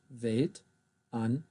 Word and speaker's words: Weltanschauung: Der Strudel, die Wanderlust, die Weltanschauung, I'll say that again, die Weltanschauung. There's another diphthong here, au, au.